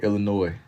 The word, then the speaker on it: Illinois: Illinois, Texas, South Carolina. He had to make sure he said the S is silent.